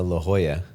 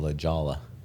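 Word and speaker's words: La Jolla: Hana, which is funny because, you know, La Hoya, you don't call La Jala.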